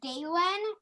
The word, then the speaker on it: Dalen: His name is Dalen, rhymes with Hagen.